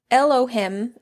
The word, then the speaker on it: Elohim: is Al him this is a spelling of Elohim e-l-o-h-i-m I don't know if I'm adding the emphasis on the correct syllables or something but it is a Hebrew